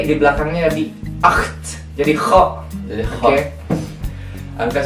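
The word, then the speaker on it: acht: itu ak akt ada t di belakangnya jadi akt jadi Ko Jadi oke angka 9 itu Noin Noin ada EU di situ Jadi dibacanya o i Noin betul angka 10 itu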